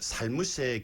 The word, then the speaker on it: 살무새: 이 말들은 두 번째 음절이 가장 높게 발음된다는 그 공통점이 있습니다만은 밀양과 울산에서는 살무새라 하여 첫 번째 음절과 두 번째 음절 모두를 높게 발음한다는 차이가 있습니다.